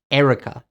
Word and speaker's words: Erika: The name Erika in English is Erica, not Erika, but Erica. I don't know why.